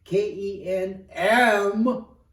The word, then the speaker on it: Kempo: In the early stages of martial arts in the country, when it first started, they were using a slang term, a mispronunciation, Kenpo.